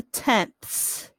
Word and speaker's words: tenths: Not to be confused with the tenths. Has that THS at the sound at the end.